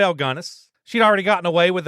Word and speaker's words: Gunness: heard it both ways do you think it's GIS or ganess G gunis yeah gunnis sounds more like you're not saying it right it's gunis yeah gunness yeah all she had